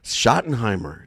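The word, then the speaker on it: Schottenheimer: next season it's true hopefully it won't be shimer shoty okay shotten Heimer that's it he's like he's the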